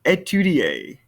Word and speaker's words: étudier: Étudier. Étudier. I don't hear that R sound.